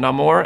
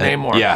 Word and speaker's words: Namor: One thing about Namor, his character is pronounced both ways in this film, Namor and Namor.